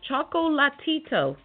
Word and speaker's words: Chocolatito: And once again, it's Chocolatito. It's not Chocolito, and it's not Chocolatito. Chocolatito is Michael Jackson's brother. I don't even know what Chocolito is, but it's Chocolatito. All the syllables.